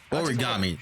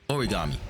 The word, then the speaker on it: origami: Origami. That's how you say it. Okay, so I said it right the first time. Origami.